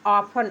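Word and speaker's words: often: silent है इसके बाद ओ एफ टी ई एन ऑफन ऑफन means अक्सर उसी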